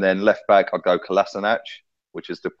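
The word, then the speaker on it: Kolašinac: And then left back, I'd go Kolasinac, which is the correct pronunciation, Sam.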